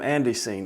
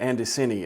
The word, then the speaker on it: Andycine: universal vlogging kit from andy scene or andy cine i've heard it pronounced both ways they've provided this kit